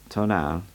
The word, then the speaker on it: Tonal: I knew that the Tonal, pronounced Tonal, was thought to be a kind of guardian